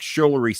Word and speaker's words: Schumer: Computer, what is Chuck Schumer's salary? No, I said his name wrong.